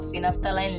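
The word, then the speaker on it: phenolphthalein: और ये भी कुछ ऐसे एग्जांपल्स ले लेते हैं, मिथाइल ऑरेंज या फिर आप फिनफ्थालाइन ले सकते हैं। इसे आप फिनफ्थालाइन पढ़ सकते हो लेकिन इसमें एफ नहीं है।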